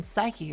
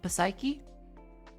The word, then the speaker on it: psyche: People don't pronounce the P in psyche. How are you saying psyche? Are you going Are you going psyche?